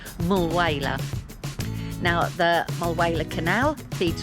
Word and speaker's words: Mulwala: Those of you that watched my Broken Hill video would know that I was fascinated by what I called Mulwala Canal. It's actually pronounced Mulwala.